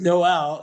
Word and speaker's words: Noel: Catholic school and uh the nuns were pronounced my name no and uh they uh they would say to me your name is not Noel it's it's no and I'm like it is Noel you know so my entire